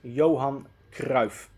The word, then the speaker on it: Johan Cruyff: do that so his complete name will be pronounced as johann grauf so that's that if you have any questions